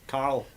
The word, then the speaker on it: Carl: I always pronounce it Carol, Carol, aye. which is unfortunately it's Carl.